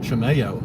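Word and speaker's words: Chimayó: Chimeo, that's how you pronounce it.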